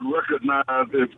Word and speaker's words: recognize: And the second syllable in that word recognize is cog, like cognition, you know, mm-hmm.